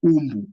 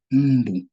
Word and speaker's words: mbu: But the real pronunciation is mbu. There's no U before the M.